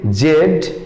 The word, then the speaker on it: Z: জেড এবং জি দুটো প্রোনাউন্সিয়েশনই correct. জেড উচ্চারণ করে থাকেন ব্রিটিশরা, বাট জি উচ্চারণ করে থাকেন আমেরিকানরা।